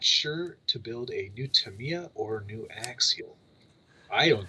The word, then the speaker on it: Tamiya: it's pronounced yeah and tamiya is the way it's pronounced that's correct nobody says that anyway